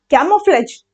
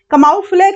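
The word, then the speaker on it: camouflage: कैमोफ्लेज, कमाउफ्लेज नहीं है, ये प्रोनाउंसिएशन है इसका, कैमोफ्लेज।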